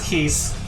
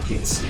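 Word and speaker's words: Kiske: And yes, it is Keese. They're pronouncing it correctly finally. Because he is named after the singer of Halloween? Halloween, yes. He's named after Michael Keese.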